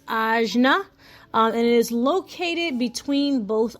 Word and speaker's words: ajna: And it's pronounced ajna.